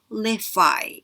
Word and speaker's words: qualify: 그리고 qualify라고 합니다. 할 때 Q 발음은 입술 앞으로 쭉 빼야 되니까 하면서 발음 다 해주시고요. qualify 이렇게 됩니다.